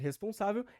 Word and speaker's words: responsável: palavra responsável Ou seja a sílaba tônica da palavra responsável é no responsável Mas como é uma palavra muito longa há também ali um acento secundário que fica na sílaba res então aí nós também